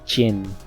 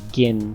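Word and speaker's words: Ging: they pronounce gohan's father it's jin or it's not gin i've been read i've been reading it as gin saying it as gin but i hear them saying jin so i'm just going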